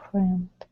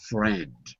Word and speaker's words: friend: friend which column um friend the first it is the first friend it looks like freend but it's not it's friend there's no reason to have an i in that word there's no reason for